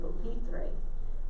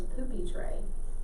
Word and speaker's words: pupitre: But if you put the accent in the wrong place, because I said pupitre, but the way it's spelled is poopy tray.